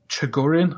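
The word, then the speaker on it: Chogorian: a Terran Khan and a Chagorian. I don't know if I'm pronouncing that right. Yeah, I think Chagorian's correct.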